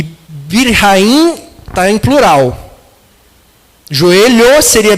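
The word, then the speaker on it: ברכיים: Joelhos em hebraico é birraim. Birrahaim. É meio difícil essa pronúncia que é um ch com semelhante à pronúncia do alemão do ch.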